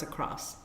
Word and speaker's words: across: voila it's French across how can anyone mispronounce across lots of times they hand a tea they put a tea on the end all crossed oh yes I just clenched my mouth adding letters that aren't there now this next one